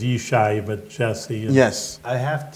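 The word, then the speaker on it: ישי: yes you know you're a Hebrew name for the viewers that's how you say it's biblical David's father's name was yesai but Jesse yes I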